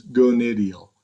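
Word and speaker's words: gonydeal: And then what about the gonadial angle? Right down there. And how do you pronounce it again? It's gonadial.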